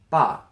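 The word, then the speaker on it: 爸: Pronounced ba.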